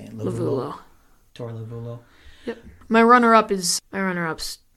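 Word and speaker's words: Lovullo: Lovulo.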